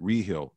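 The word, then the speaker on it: Rehill: my real name is we pronounce it reheal l r-e-h-i-l-l our people oh lonely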